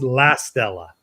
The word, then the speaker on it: La Stella: Unfortunately for the team, my name's La Stella and not Rockefeller. So it's La Stella. Yeah. Pronounce it right.